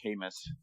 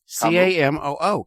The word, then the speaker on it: Camus: No, I didn't know either until I heard a really smart person say Camus. You heard a really dumb girl say Camus. But you're right. It is Camus.